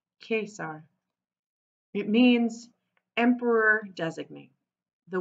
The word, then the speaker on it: Caesar: lower school called him Caesar pronouncing the C as a K like the Latin teacher taught them case R it means Emperor designate